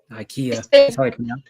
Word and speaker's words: Ikea: right here I a i u IA Ika Ikea but but in like some other some other